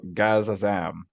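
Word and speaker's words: Gazazam: next to g-a-z so gazza zam like shazam yeah yeah sure we're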